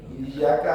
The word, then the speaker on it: iyyaka: Nah jadi hati-hati ketika membaca tasdid. Nah itu ditasdidkan kan tipis nih, iyyaka, nah itu dengan pada iyyaka, nah itu kan seolah iyyaka.